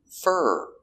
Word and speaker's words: for: For is not stressed, so we change the pronunciation to fur.